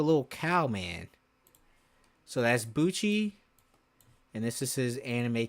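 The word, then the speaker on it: Buchi: But we only get Cororo Sham and Buchcci. So right here which I'm about to show you guys is Buchcci. I know his name rhymes with Gucci.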